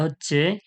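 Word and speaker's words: ه: কণ্ঠনলীর শুরু থেকে, শুরু হইতে অর্থাৎ বুকের দিক থেকে যে শুরু হচ্ছে, কণ্ঠনলীর শুরু থেকে কি উচ্চারণ হয়? হামজা, হা, হামজা, হা।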